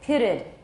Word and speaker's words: pitted: So we add another syllable. We put a schwa in there. We say pitted.